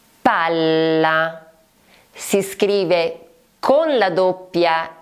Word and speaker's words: palla: Palla. Palla. Si scrive con la doppia L ed è quella sfera che viene utilizzata spesso nei giochi.